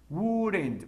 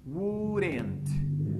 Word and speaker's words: wouldn't: Wouldn't. Más o menos algo así. Wouldn't. Sí, puedes colocar la pronunciación de esta como una T. O wouldn't, también como una D.